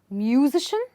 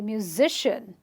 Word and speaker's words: musician: The sic, the zish, is stressed. So I don't say musician, I'll say musician.